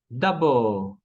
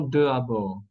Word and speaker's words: d'abord: Tenemos d'abord, d'abord y no de abord.